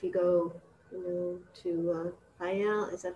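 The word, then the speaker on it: Faial: Are you going to need to be tested if you go, you know, to Fayal?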